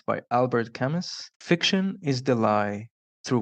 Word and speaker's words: Camus: It's by Albert Camus. Fiction is the lie through which we tell the truth. And that is something that I think holds true to almost every genre. It's pronounced Camo.